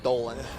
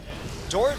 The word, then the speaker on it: Doran: a man named Oren or if you're incapable pronouncing be ours like I am Dolan you know Doran really wasn't a great craftsman I know that